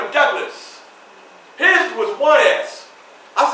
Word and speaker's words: Douglass: So you will pronounce my name as Douglas. So the S would sound Douglas.